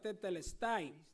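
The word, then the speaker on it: τετέλεσται: En griego se pronuncia tetelestin y esta palabra se utilizaba para ponerla como sello cuando se saldaba una cuenta, es decir, totalmente pagado.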